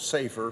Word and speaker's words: SAFER: Our bill is entitled Safeguarding America's First Responder Act, or SFAR, or pronounced as SAFER for short.